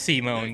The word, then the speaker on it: Simon: I guess Simon was a digger, content to drill endlessly through the dirt until the day he found the core pronounced Simone that activated the mysterious buried mech that Kamina named Lagon.